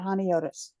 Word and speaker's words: Honiotes: it's all under hotus I love it and Squad that is spelled h o n IO Tes and it's just like if you say hi hone and then otus I love that I